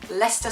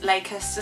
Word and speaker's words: Leicester: of Living in England I still thought it was going to be pronounced lakester Square that's not a joke I know you're embarrassing but I really thought like genuinely did think it was pronounced lakeer square and I would probably